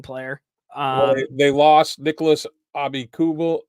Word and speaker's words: Nicholas Abi Kubel: They lost Nicholas Abi Kubel.